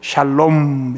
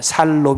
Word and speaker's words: 샬롬: 웰빙 의 상태를 히브리어로 샬롬 이라고 합니다 번 따라 하면 좋겠습니다 잘 몸 발음 조심하셔야 됩니다 에 살롬 이 아니고 샬 몸 생각해보니까 살롬 이 괜찮은거